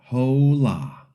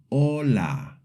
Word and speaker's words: hola: So the first part is O, not ho. In the second part, we typically say la, but in Spanish it's la. So the wrong way is hola.